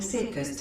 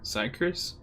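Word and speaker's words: Syrcus: Reinitializing Circus Tower systems. Searching for Elidibus entity. I'm sorry, how did you pronounce it? Sir? Sycris? Sycris? It's not circus? No.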